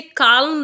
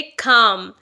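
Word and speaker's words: calm: चेंस यानी मौका खा अब यहां पर भी आपको प्रोनाउंस करते हुए ध्यान रखना है कि इसे काल्म नहीं बोलना है एल यहां पर साइलेंट है तो इसे हम बोलेंगे खाम खाम का मतलब होता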